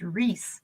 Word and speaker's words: Ruiz: R-U-I-Z is pronounced Reese, like Reese's peanut butter cups.